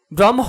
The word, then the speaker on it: ব্রাহ্ম: এইচ দিয়ে উচ্চারণ লিখেছি ব্রাহ্ম বানানে হ এর সাথে ম যুক্ত হওয়ায় উচ্চারণে আমরা এম এইচ লিখেছি হ এর সাথে ল